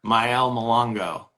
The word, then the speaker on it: Mayele: for the team yeah um and you are myel is that am I saying it correctly correct